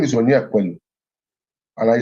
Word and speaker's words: Onyekwelu: My name is just 3 syllables. Onyekwelu.